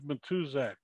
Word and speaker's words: Matuszak: can mispronounce your name i thought it was matuzak did i pronounce it correctly that is in fact perfect